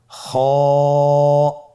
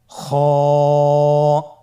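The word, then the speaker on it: خاء: খ হরফটির মাখরাজ হলো কন্ঠনালীর শেষ ভাগ হতে উচ্চারণ করতে হয়। কন্ঠনালীর শেষ ভাগ। আপনারা আমার সাথে বলুন খ আবার বলুন খ মাশআল্লাহ।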